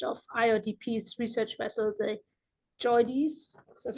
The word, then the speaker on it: JOIDES: Sailing as a microbiologist and geochemist on the first voyage of IODP's research vessel, the JOIDES, that's how you say it, Resolution.